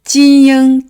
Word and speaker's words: 晶: long horizontal that's XING Next character is JING. j-ing-jing j-ing-jing .